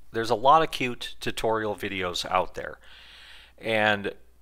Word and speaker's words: Qt: working with cute and he also pronounced it cute all right okay so